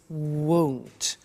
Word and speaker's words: won't: careful with the pronunciation it's not want it's won't so the example is I won't buy it or I